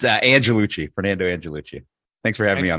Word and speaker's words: Angelucci: show with me Fernando and I let Fernando pronounce his last name Fernando how are we doing good it's uh Andrew Lucci Fernando angellucci thanks for having me on the show Brett